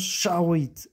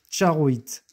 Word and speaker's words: Charoïte: Son nom se prononce charoïe. Charoite.